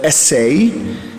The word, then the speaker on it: essay: And if we do so, we pronounce the word essay as a verb, therefore essay, as a way of trying, as a way of attempting.